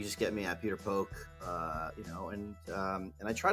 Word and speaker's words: Phok: Phok with a silent H.